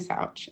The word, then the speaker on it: Souch: So, yes, my name is Souch and thank you. You actually pronounced that quite right.